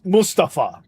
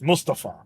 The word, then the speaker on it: Mustafa: Or it's Mustafa. That's how they pronounce it. Mustafa.